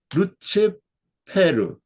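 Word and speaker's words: Lucifer: 성경에도 이렇게 돼 있어요 라틴어 성경에도 루치페르 그 그 스펠링은 똑같은데 발음이 좀 다르더라고요 그래서 라틴어 성경은 루치페르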